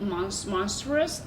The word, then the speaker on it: monstrous: Even though she's a little bit monstrous. Monstrous. Monstrous. A monstrous. Monstrous. Monstrous. I'm still. She's my It's teacher like of the stress pronunciation. on mon. Monstrous.